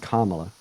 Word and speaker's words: Kamala: cuz Kamala didn't like Kamala Kamala her name's pronounced Kamala okay sound like you're going to [ __